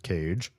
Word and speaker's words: Kaye: Legion Kaye just subscribed. Legion, what? I believe their name is pronounced Cage.